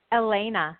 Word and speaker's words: Alajna: Alajna. It's Elena, but with a J.